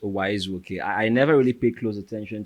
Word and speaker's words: Uwaezuoke: welcome my guest for today's show Mr Esquire okay um thank you very much Elvis the surname is pronounced o I never really paid close attention to my surname